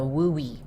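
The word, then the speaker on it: WUE: Another option we want you to know about is the WUI.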